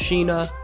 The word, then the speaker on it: Sina: mere Fritz's three daughters Zeena Rose and Maria I get that Sina is occasionally pronounced sheena I'm just gonna pronounce a